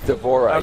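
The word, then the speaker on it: D'Vorah: to do is it how did you pronounce her name devorah is that right Deborah yes so what's the Swarm Queen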